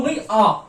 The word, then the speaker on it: G: अब आता है जी, इंग्लिश का लेटर, जिसको हम प्रोनाउंस करते हैं गे, ठीक है।